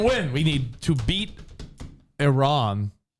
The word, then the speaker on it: Iran: want me to do he said I ran instead of Iran so I don't know